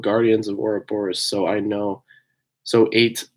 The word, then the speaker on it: Ouroboros: It is said Ouroboros.